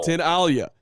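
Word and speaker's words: Tinaglia: i n a g l i a it's pronounced tin Alia so I am right that's fanatically okay spelling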